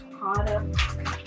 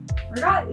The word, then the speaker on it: ricotta: And it's ricotta. The Italian-Americans say ricotta, but that's not Italian, so drives me crazy.